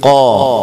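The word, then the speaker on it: ق: ഖാ എന്ന ഉച്ചാരണം അറബികൾ ഖാ എന്ന് ഉച്ചരിക്കാറില്ല, അതിന്റെ ഉച്ചാരണ സമയത്ത് ശബ്ദവും കാറ്റും മേലണ്ണാക്കിലേക്ക് ഒതുക്കി നിർത്തിയിട്ട് ഖാ എന്ന ഉച്ചരിക്കുക.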